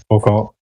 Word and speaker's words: Foucault: I don't know its name, but there's a pendulum, or whatever it's pronounced. Foucault.